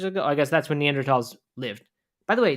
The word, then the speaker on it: Neanderthal: I guess that's when neanderthals lived by the way Neanderthal is pronounced tall you know that not thaw I didn't know that